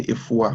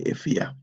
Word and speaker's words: Efua: It's spelled Ekua or Efua, but we don't say Efua, we say Efia.